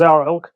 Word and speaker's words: XARILK: Zarilk spelled with an X but pronounced Zarilk does accommodate the quarterinch blade.